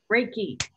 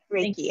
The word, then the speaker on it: reiki: wrong ricky right say it for me emily reiki reiki and it's a form of energy healing i was just putting in the chat um yes janet because i i practiced reiki also and it's been a big help for